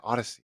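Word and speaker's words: Audacy: go how do you it's an audio thing and they say it in a way that you you have to spell it otherwise no one will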